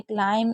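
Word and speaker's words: climb: इसमें कॉम इसमें क्लाइम इसमें थंब लेकिन इसमें बी और टी है तो बी साइलेंट है तो इसे हम डाउट पढ़ रहे हैं।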